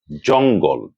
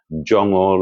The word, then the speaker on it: জঙ্গল: কিন্তু অনেকেই করেন কি? উচ্চারণের সময় উটিকে রেখে গটিকে বাদ দিয়ে দেন। এতে করে উচ্চারণ ভুল হয়ে যায়। তারা বলার চেষ্টা করেন জঙ্গল, হাঙ্গামা ক্যাঙ্গারু ইত্যাদি যেগুলো শুদ্ধ নয় রবিত নয়।